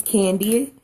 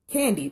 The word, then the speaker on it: KanD: me my name is candy its belt ka n capital D and the D is stressed so the pronunciation is candy just like the candy and so I know